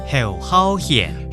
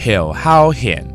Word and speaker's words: 侯孝賢: How do you pronounce Ho Xiaoxian, this director's name in Hakka? Ho Hao Hian. Ho Hao Hian.